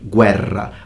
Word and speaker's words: guerra: It's only one R, so don't over-exaggerate it in pronunciation, like guerra. Guerra is strong, like Ferrari. Double R, stronger.